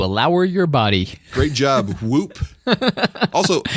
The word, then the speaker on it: Whoop: Whoop. Also, I would woot. No, it's whoop.